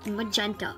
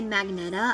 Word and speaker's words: magenta: right mad gent magenta oh i was almost gonna say magneta i used to call it that but then i learned the right way to say it and i used to call cyan cayenne so those are two